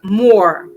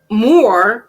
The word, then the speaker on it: Moor: The mu in Moor is pronounced as in the moo sound a cow makes.